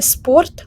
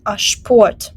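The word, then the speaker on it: Sport: пополудню спорт звертаємо увагу читається не спорт ашпор СП оце поєднання в німецькій мові завжди читається як шпшпо звучить дуже дивно я розумію але ми маємо це приймати так само як і шпас Тобто ми не читаємо Спас а читаємо шпас і як ви бачите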